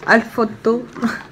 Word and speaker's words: Alfort: Ça, c'est une marque Alfotto. Alfotto. Alfotto. Ah ben tu vois, toi qui disais, ça s'écrit Alfort et il lit ça Alfotto.